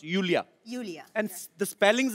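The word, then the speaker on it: Iulia: Pronounce Yulia. Yulia. And Yeah. the spellings are I-U-L-I-A. So I Thank क्यों God मतलब? you know. I mean, why I? Thank God. Everyone is calling me Lulia, Lolia.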